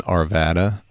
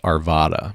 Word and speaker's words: Arvada: so looking just in arvada i think it is locally pronounced arvada but for some reason i still can't get that i always say arvada just like i say